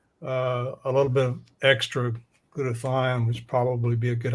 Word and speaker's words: glutathione: uh let's let's go ahead and talk about glutathione is that how you pronounce that Dad yes now why is it